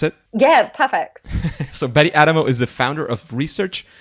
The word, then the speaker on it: Adamou: Betty.Adamou, is that the right way to pronounce it? Yeah, perfect. So Betty.Adamou is the founder of Research Through Gaming.